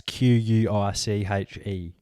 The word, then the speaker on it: quiche: what other foods like quiche cache apparently that's q-u-i-c-h-e it's k-double e-s-h that's quiche shut the [ __